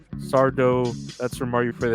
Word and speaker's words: Sardo: That's Sardo with S accent on the O. Sardo.